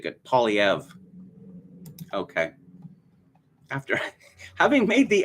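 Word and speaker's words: Poilievre: pauliev's site i just made an effort to pronounce his name properly in french poi liavra but i turned found out that he is um pronouncing it polyev okay after having made the effort uh it's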